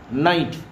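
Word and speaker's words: knight: तो आणि हा बघा के एन आय जी एचटी नाईट उच्चार सेम सेम होतो नाईट आणि के जरी असलं या ठिकाणी वर पण आपण पाहिलं होतं की के कसा आहे सायलेंट आहे या ठिकाणी मग के चा उच्चार क चा उच्चारच होत नाही नाईट आणि यापूर्वीच्या व्हिडिओमध्ये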